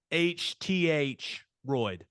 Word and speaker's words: Bothroyd: Forest media guide with pronunciation guide look at you rondelle botheroid we got it we're we're locked in no more guessing b-a-h-t-h roid bathroom right that's what we're rolling with yeah good okay look